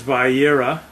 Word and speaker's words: Vayeira: This week's Torah portion is Vayeira, which is basically... Vayeira.